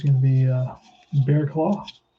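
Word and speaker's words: Barraclough: in the afternoon here's kyle bearclaw that's how you pronounce that name it's a tough name to pronounce um it's gonna be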